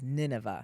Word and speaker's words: Nineveh: Uh but in English or the way that I pronounce it is Ninevea. Nineva.